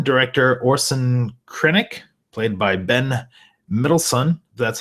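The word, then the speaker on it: Ben Mendelsohn: is the villain director Orson krennic played by Ben midson that's how you say it I like his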